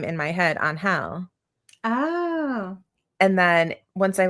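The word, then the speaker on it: Ángel: And then once I listen to the audio he does eventually say Anhal. Mhm. talking to Lucy about it and he's like, "Yeah, it's actually pronounced on hell, but just call me Angel."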